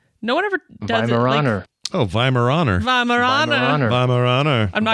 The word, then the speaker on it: Weimaraner: The W's a V. That's just because it's German.